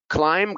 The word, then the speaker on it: climb: not bomb it's bomb climb climb climb all of these words have a silent b all of these words